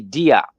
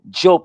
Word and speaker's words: Diop: Many people say Diop, but Job is how the name would be pronounced.